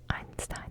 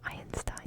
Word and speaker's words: Einstein: And I learned it's pronounced Einstein and not Einstein because my friend kept correcting me.